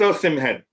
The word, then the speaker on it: Osimhen: It's Osimhen. Osimhen. You can call him Osimhen. You can pronounce it as Osimhen, but Osimhen. It ends with an M.